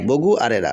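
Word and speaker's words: Bogura: বানানটা ইংরেজিতে আগে ছিল বগরা বি ও জি আর এরা বগড়া শুনতেও কিন্তু খারাপ লাগতো বাট এখন হচ্ছে বি ও জি ইউ আর এরা বি ও বো জি ইউ গু বগুরা বগুড়া এটা কিন্তু অনেক ভালো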